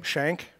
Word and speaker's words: Schenk: pronounce my last name it's got the german spelling sch and like i played